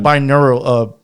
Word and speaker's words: binaural: As he uses a lot of binaural, how do you say that again?